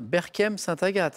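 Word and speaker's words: Berchem-Sainte-Agathe: Berkem-Saint-Agathe. Hein. C'est bien ça. Ouais. Hein, j'ai bien prononcé.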